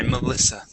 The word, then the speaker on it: Melissa: Make sure to get that short I, Melissa.